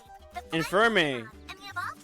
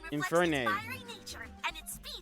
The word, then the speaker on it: Infernape: Infirme. I'm sorry, Infirme? I can't pronounce the name. My bad. I'm sorry. Infernape.